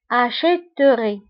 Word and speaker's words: j'achèterai: Alors, بالنسبة لهاد E فكنضيفوها باش ننطقوا acheterai.